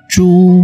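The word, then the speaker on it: 猪: Setelah dikasih Fan Quan Pang jadinya Ju bacanya ya.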